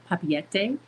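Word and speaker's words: Papeete: the flight from Denver to San Francisco to Papiete.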